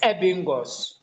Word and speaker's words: Ebbinghaus: Ebbinghaus is spelled as Ebbinghaus. Ebbinghaus. Bingaus, Ebingos.